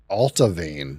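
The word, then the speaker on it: Allt-A-Bhainne: keep sendy pronunciations alavan altavan that is not even anywhere near like the spelling altavan Glen livit altavan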